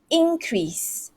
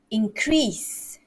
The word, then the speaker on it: increase: look at this word this is a noun so increase increase stress here when is a verb it is increase increase so i have to